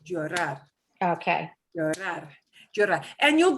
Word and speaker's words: llorar: Anything that ends in an AR, we punch the last syllable a little bit harder. Llorar.